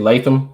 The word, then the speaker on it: Latham: But JC, I think mispronounce his name incorrectly. JC Latham. Latham, thank you.